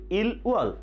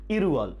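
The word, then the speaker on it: 일월: তাহলে উচ্চারণটি কি হবে? ইল উয়ল না, উচ্চারণটি হবে ইরুয়ল।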